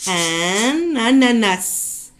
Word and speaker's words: un ananas: Ali a acheté un ananas. Un ananas. Ananas. Ali a acheté un ananas. Donc ici, le 1, on la relie avec ananas.